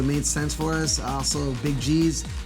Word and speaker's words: Big G's: Also, Big G's rhymes with cheese.